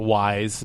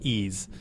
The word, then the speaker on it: Ys: Uh Ease 7. Um Oh, and Ease is YS. YS. Yeah, a lot of people called it Wise, but it's pronounced Ease.